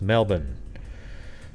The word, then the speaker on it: Melbourne: There's no R or anything like that pronounced. It's just Melbourne, right?